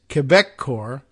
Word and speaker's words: Quebecor: in the BBC story, there's Quebecor. That's how you would pronounce that one.